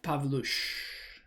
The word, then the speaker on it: Pavlush: Pavlush. It's a weird pronunciation because it's of Polish origin.